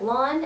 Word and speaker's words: Loan: It's spelled like Lone, but it is not pronounced that way. It's pronounced like lawn, and I always tell people to help them remember it's like mow your lawn.